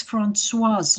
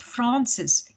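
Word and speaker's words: Françoise: i give my example my name is francoise not francis insisted the little girl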